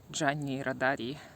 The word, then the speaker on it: Gianni Rodari: remember is uh reading gianni radari this is how we pronounce his name in russian and i remember this